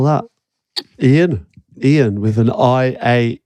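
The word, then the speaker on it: Iain: hell IR voice trying to spell that Ian Ian with an i a i n Ian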